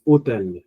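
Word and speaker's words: hôtel: So you see H is silent here. H. So next letter is O, which is the vowel. So technically we write H, but H here is of no use.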